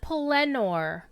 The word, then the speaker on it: Pelennor: Except he pronounced it Pelennor, which makes sense because emphasis on the second syllable, Mount Mindalluin, Orodruin.